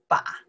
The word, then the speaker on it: 把: We pronounce the ba, okay?